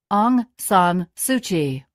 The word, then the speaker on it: Aung San Suu Kyi: 앙상수치는, 참, 이거를 앙상수치라고 읽는 거 아닌가? 왜 키로 발음이 지금 스펠링이 돼 있지? 앙상 수치. Aung San Suu Kyi.